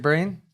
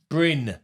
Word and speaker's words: Bryn: Yeah, Is it Breen? Bryn. Bryn. Jeez, The handyman CSCS card, a hot topic on social media at the moment.